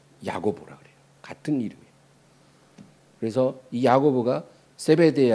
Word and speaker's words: 야고보: 히브리어 발음이 야곱이고 그것이 이제 신약에 와서 이제 헬라식 발음 헬라 발음으로 야고보라 그래요.